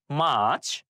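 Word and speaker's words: March: আর হচ্ছে silent word হিসেবে থাকবে আমরা আর উচ্চারণ করবো না আমরা বলব মার্চ এরপরে আছে এপ্রল এপ্রল এপ্রল মে জুন জুন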